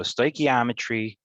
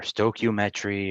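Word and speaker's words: stoichiometry: So stochometry or stokometry or it gets pronounced I call it stoeometry. Um it gets called a bunch you know it's pronounced differently by lots of people but so are lots of things.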